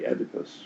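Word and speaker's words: Oedipus: So that's that's the plot of of King Edypus, right? Um so this becomes the Edypus complex. think Americans say Edipus, which strikes me as strange, but anyway, I've heard it both ways.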